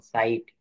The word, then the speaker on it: sight: কোন লেটারের ভিতরে যদি একত্রে থাকে, তো এই সেই জি এর উচ্চারণ আই হয়ে যাবে, যেমন সাইট, নাইট, মাইট, এটসেট্রা।